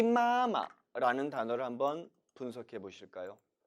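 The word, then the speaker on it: 妈妈: 아빠 아빠 와 동일합니다 원래는 따라 읽어 보세요 마마 마마 라고 해야 맞는 발음이 겠죠 하지만 엄마 엄마 엄마 한번 부르다 자칫 숨 넘어갈 수 있다는 겁니다 그래서 발음을 편하게 하기 위해서 뒷부분은 역시 경성 처리를 해 준 거죠 마마 마마 라고 말입니다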